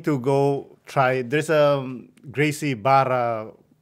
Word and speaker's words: Gracie Barra: go try there's a Gracie Barra how do you say it it's like Gracie Baja yeah something like that they have it here